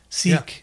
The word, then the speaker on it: Sikh: the first sikh temple seek seek sick yeah could be pronounced both ways depending on that's going